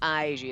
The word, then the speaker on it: Aiji: It takes me a while to pronounce his name. Because I just want to call him Aiji, but it's not Aiji, it's Aiji.